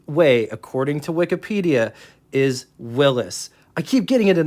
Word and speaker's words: Willys: and show you according to Wikipedia it is pronounced like this and off camera I will admit that I say Willie's but the correct way according to Wikipedia is Willis I keep getting it in the comment section